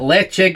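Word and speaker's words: Ledaig: of people call it ladakh lachie uh leche apparently is the correct pronunciation the gaelic pronunciation of it so yeah i've got a check 10.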